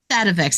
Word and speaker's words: Sativex: Sativex. I said it wrong. Yeah. Yes. And that's just an I isolate. inverted my T and A there.